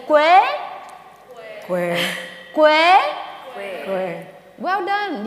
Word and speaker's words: Quế: But if you remove the name if you remove the diacritics, my name would become Q-U-E, and it's pronounced like this: Quế. Can you say Quế?